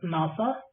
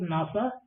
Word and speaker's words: NASA: If someone says NASA, it is pronounced as a word, not as a single characters like NASA. Okay, if someone says NASA, NASA, you need to